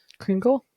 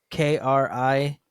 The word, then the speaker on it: Kringla: Like I can't think of the Kringle. No, it's K. It's pronounced Kringla. It's like Kringle.